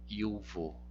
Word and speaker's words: iuvo: O J ele é pronunciado como I, juvo, iuvo, iuvo.